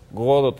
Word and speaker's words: Godot: que bueno, en realidad él decía que debía decirse con el acento en la primera sílaba Godot, y en realidad no había uno pronunciar ni la T, ¿no?